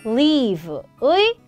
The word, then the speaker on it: leave: 떠나다, leave의 과거형입니다. 근데 여기서도 여러분 잠깐의 또 꿀팁을 드리면 L-E-A-V-E, leave와 live, L-I-V-E, 살다. 이 뜻이 완전 다르고 발음도 완전 달라요. leave 같은 경우는 EA가 있기 때문에 길게 빼주셔야 돼요.